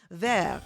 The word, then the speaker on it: vert: Vert is how you say it in French, right?